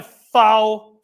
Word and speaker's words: faux: So this is my faux, how do you say that word?